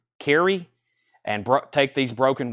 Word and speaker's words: Kyrie: course that has what I used to call Kyrie but it's pronounced Carrie and bro take these broken wings of course